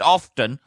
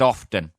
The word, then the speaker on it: Alfreton: It's not pronounced the way you spell it. It's pronounced. Shut up. It's spelled Alfreton. I struggled with that then. Alfreton. Alfreton. But it's pronounced often.